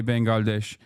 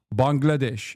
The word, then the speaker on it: Bangladesh: Turks don't say Bengalesh. I was wrong. Bangladesh is how Turks say it. So they say it right.